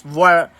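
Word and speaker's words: voir dire: This is pronounced as varder.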